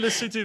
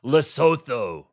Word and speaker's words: Lesotho: What would you like me to say Lesotho as well? No, you do Lesotho very well. It's President Trump who goes Lesotho. Well, that's how it's spelled, so it's understandable.